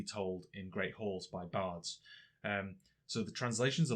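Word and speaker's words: bardd: celtic word in origin from golic bard and welsh bard which is spelt b-a-r-double d and these were incredibly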